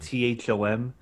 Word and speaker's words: Thom: You know when they put T H O M. It's not that name. Tom. You don't like those Toms. It's Thom. It's not Tom. Look, get rid of the extra H.